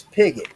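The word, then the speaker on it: Pigott: My last name is Pigot. It is spelled P I G O T T.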